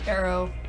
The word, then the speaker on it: Aaero: Aaero is pronounced Aaero, but appears at the top of alphabetical lists of words of indie games. Aaero. Yeah, like A-E-R-O.